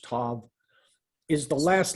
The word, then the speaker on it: tav: Now in verse 4, this tau, or it's pronounced tav, is the last letter of the human alphabet.